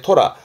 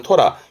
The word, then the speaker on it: 虎: 하나 더 있다면 앞에게 맹자라 사나올 맹자 그래서 사나운 호랑이 맹호 발음은 모고 모고 근데 이한자는 훈독으로서의 토라 호랑일 말하는 토라 요게 N3 정도에도 언급이 되니까 호랑일 말하는 토라의 발음은 좀 챙겨 두시면요 한자는 끝입니다.요 정도면 될 거 같아요.